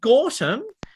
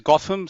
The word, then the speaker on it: Gautam: pronouncing your name correctly gorton the floor is yours please just say it right uh thanks edward uh no my pronunciation is gotham so it's like gotham city oh man batman fan